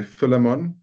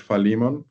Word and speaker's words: Philemon: So I want to say Philemon, but I know some people pronounce it Philemon.